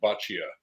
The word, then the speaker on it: Boccia: him do it no that's good it's Bia yep nice to meet you uh before we